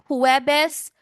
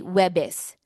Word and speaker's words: Huwebes: Now, sometimes in casual conversations they would just omit the first syllable. They just say webis and that still means Thursday. Webes or webes, they both mean Thursday.